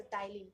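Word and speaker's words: ptyalin: टाइलिन enzyme, टाइलिन एक तरह का एंजाइम है, ये जो पी है ना वो साइलेंट होता है, तो टाइलिन पढ़ते हैं इसको।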